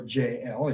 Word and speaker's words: Jael: Woman number two is Jael, or JL, as you might want to pronounce it.